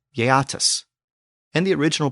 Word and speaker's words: Geats: The original pronunciation of the Geats was something like Yeatus, and the original pronunciation of the Jutes was something like Utus. Yatus and Utus.